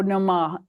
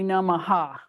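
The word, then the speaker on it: नमः: Oh, Om Priti Bio Namah. It's really Namaha. Whenever you see something that says Namah, it's Namaha. And Uh-huh.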